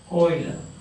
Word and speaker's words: Euler: the spelling is EU and ER at the pronunciation is Euler Euler diagram the oil rich Wakile diagrams say